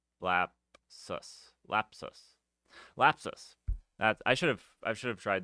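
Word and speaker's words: Lapsus$: Lapras, I keep putting an R in there. There's no R. Lapus, Lap. No, that's wrong too. Anyways, I can't pronounce their name. Lapsus.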